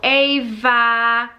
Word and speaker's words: Ava: and I'm like, oh, Ava, you know, pronouncing the V bit.